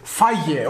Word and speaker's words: Fage: Ja, okay, da steht sogar drauf, wie man es ausspricht. Feige, okay? So spricht man das aus.